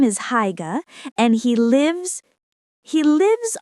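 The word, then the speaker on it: Haigha: His name is Higa. He pronounced it so as to rhyme with mare.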